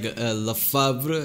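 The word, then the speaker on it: Lefebvre: obviously hardline military figures like lafabra is how you pronounce it it's gonna be all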